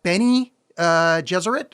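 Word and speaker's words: Bene Gesserit: the other takeaways are Benny uh jeser like Benny and the Jets jzer and I think the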